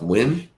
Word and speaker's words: Nguyen: This name, I've seen it pronounced Nguyen, Nguyen, but I've also seen it pronounced Win, like W-I-N. So I don't know how you guys pronounce it. But I grew up with the David Nguyen, so that's how it was always said. But as I get older, I see Win said a lot more than Nguyen.